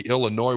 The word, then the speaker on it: Illinois: Max around number 20 Illinois where the S is silent 38-9 and it was